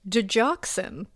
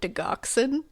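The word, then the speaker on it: digoxin: It's actually pronounced dejoxin, not deoxin.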